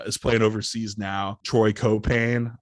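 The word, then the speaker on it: Caupain: Another Lakeland guard who is playing overseas now, Troy Copain. I just loved being able to put that emphasis on that middle syllable, really like punch it home.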